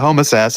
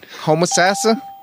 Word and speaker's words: Homosassa: is that better yeah homosassa is probably how you say it homosassa do you know why